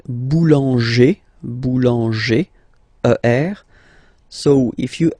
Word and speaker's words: boulanger: Okay, then we've got this group like boulanger, boulanger, ER.